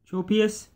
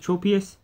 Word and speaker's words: Tropius: And then next is Tropius. I think it's pronounced Tropius.